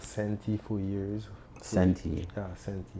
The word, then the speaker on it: Senti: Senti. How do you spell that?